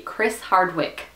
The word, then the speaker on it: Chris Hardwick: get this awesome but Chris Hardwick because he Chris Hardwick that's how you say his name because he